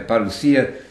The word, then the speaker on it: parousia: I'm using the modern Greek pronunciation there, parousia, second coming of Jesus.